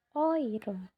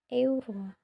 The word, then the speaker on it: Euro: Contoh euro itu dibaca oiro. Oiro bukan euro.